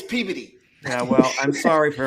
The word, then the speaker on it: Peabody: It's spelled P E A B O D Y. Peabody. Everybody else, it's Peabody. Up there, it's Peody.